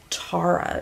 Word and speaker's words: Tara: Why did I say Tara? Tara is how you pronounce it.